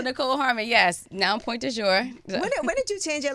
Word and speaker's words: Pointdujour: Nichole Pointdujour. Yes, and she said it right, y'all. You hear that? Yeah. Pointdujour.